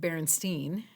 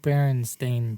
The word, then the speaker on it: Berenstain: It's the way you think it's spelled, which is the E-I-N, which would be like Berenstein, Bears, right? And in my head, that's how it was always pronounced as a kid.